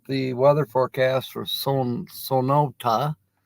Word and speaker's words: Sonoita: weather forecast for son sonota I am saying it right now it's sonota even though to me it's spelled Sonoita but it's sonota okay I'm learning uh okay